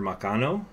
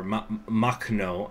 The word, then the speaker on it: Makhno: how to get uh Nester maano I hope I'm pronouncing his name correctly uh or M mno I think it's actually how it's pronounced uh who was in